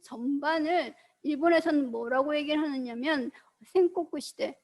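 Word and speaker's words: 戦国: 그래서 이 16세기 전반을 일본에서는 뭐라고 얘기를 하느냐면 생코쿠 시대, 한자로 전국이라고 쓰고 생코쿠 시대라고 읽습니다.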